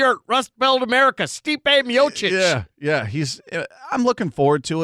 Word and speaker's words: Miocic: Miocic. Yeah. Stipe Miocic, who sounds exactly like he's from Cleveland. Cleveland, yeah, correct. He's an Ohioan. Yeah, good Cleveland boy. Salt of the earth, Rust Belt America, Stipe Miocic.